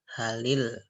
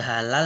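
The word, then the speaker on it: هلِ: Nah, alif dan lam, otomatis lamnya hal itu dikasroh, bukan sukun. Bukan hal, tetapi bacanya halil. Gitu ya. Tapi nggak ada halal, nggak ada halul, nggak bisa. Halil.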